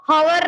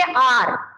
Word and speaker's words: hour: तो एग्जाम्पल लेते हैं यहाँ पे, एन HOUR, इसको हॉवर नहीं बोलेंगे, इसको क्या बोलेंगे, आर, but this spelling is start from consonant, but we pronounce it आर, क्या बोलेंगे, आर।